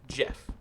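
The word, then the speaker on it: Geoff: So my plumber, Jeff, it's pronounced like that. That's how he spells like Jeffrey. It's Geof, Jeff. And it's like, where's the O coming from?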